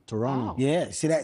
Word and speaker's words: Toronto: They're going to respect me because you don't pronounce the T. That's what I learned. Toronto. Toronto.